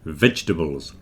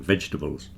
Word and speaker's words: vegetables: It's certainly not vegetables. Don't stress the tables at the end. That gets contracted down. The middle bit gets contracted so it disappears completely. And we just say vegetables. The stress is at the beginning, vegetables.